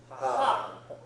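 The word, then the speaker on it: は: for KN okay so this one is ha okay like somebody laughing ha haa okay and it goes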